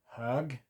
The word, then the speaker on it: hög: But an example of the pronunciation difference. Hög, hugg.